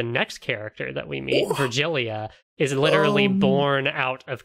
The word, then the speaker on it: Virgilia: Okay, I was pronouncing it Virgilia, like an H sound for the G. That's not right? No, It's I think Virgilia. it's like after Virgil, you know, the Aeneid and all that.